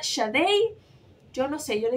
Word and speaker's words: Sade: thieves y aquí está Yo sé que yo le he dicho Sade pero tengo entendido que se pronuncia shade yo no sé yo